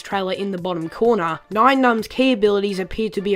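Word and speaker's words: Nien Nunb: at nian num and yes I did call it nion num in the past couple of episodes but I do apologize about that it has been since cleared up that it is actually correctly pronounced n num anyway we begin to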